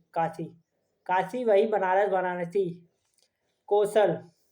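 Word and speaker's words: कोशल: कौशला, कौशला नहीं, कौशल, हिंदी में कौशल होगा लेकिन इंग्लिश में कौशला आ जाएगा क्योंकि ए है, लेकिन ये ए साइलेंट है, तो कौशल।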